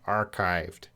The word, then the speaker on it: archived: I as I de that up what's the pronunciation of our archived archive that CH will have AK a strong case L archived archived archived means you kind of put it